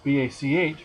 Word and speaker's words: Bach: it is not here it's a hard k sound like in the german composer bach it's b-a-c-h but it's pronounced bach